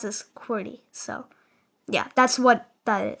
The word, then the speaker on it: QWERTY: Um, if you don't include the UI Oop in the top row goes Q W E R T Y which is pronounced as Querty.